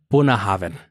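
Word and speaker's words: Bunnahabhain: had a stroke while typing but it's actually pronounced buah Haven and it's galic for mouth of the River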